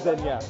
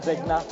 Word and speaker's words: Zegna: I always get confused, so I'm just gonna go with Zenya. So I've started learning more and more about sharp dressing and stuff. So now I know it's not Zegna.